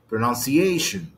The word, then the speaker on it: pronunciation: يبقى اسمها ايه؟ pronunciation. الاشن هي اللي خدت الايه؟ الاستريس.